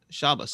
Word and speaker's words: Shabbos: the pronunciation? S-H Shah. Yeah. Abbos. Shabbos.